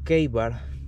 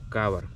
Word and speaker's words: Ka-Bar: Bien, en esta oportunidad le va a tocar el turno al cuchillo Keibar BK9 o Kabar, como vendría siendo la pronunciación en español, ¿ok?